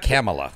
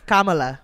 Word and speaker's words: Kamala: It's not Kamala. Kamala. Yeah, Kamala.